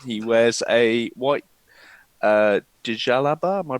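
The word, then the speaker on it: djellaba: Um he wears a white uh dialaba. Am I pronouncing that right? Jaliba. Jelly. Jelly. Like jelly baby.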